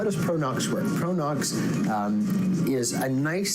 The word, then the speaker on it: Pro-Nox: the use of nitrous oxide so what is pronounced pronox is it's a one of the largest vendors